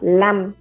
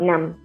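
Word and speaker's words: lăm: time remote bam remote the word for five um for the numbers 15 through 95. um is now pronounced as lam not nam so and the number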